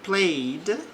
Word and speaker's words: played: Exemplo, the child played. Aqui o verbo está no passado. Não pronuncio o e nesta neste verbo.